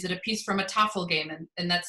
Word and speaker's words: Tafl: was, well, is it a piece from a Tafel game? And that's spelled Tafl.